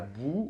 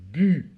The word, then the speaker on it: bu: Ok, donc il faut bien dire j'ai bu et pas bou, ok?